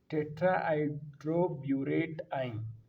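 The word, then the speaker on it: tetrahydroborate ion: देखिए the tetra tetra hydro hydro burette आइन tetra hydro burette आइन आपने बिल्कुल इसी तरह प्रोनाउंस करना है टेट्रा एड्रो ब्यूरेट आइन क्या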